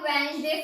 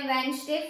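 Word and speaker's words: Wednesday: उसके बाद देखो वेडनेसडे फर्स्ट। इसमें स्पेलिंग में क्या होता है? डब्ल्यू ई डी होता है। बट हम इसको बोलते क्या है? वेडनेसडे first.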